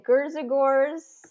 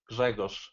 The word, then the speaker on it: Grzegorz: The correct pronunciation is Grzegorz. Okay, so what's interesting about that is there are sounds in your name that I don't have in my sound repertoire because they're unique to your language.